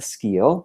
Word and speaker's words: Skeele: to join by Rebecca ski and Rebecca am I pronouncing your last name correctly yes you are you did well great Rebecca ski is